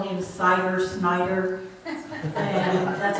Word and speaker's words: Snyder: And that's what I even tell people now when they see our name, S-N-Y, and they say, Miss Cinder. I said, no, it's Snyder. It rhymes with cider, or spider.